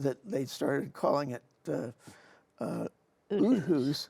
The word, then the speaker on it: Outhouse: only they pronounce it Uthus. Uthus, because it's very German, or I would imagine.